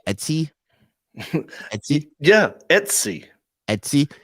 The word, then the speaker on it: Etsy: you say etsy yeah etsy etsy you were saying sd at one point like std those things are expensive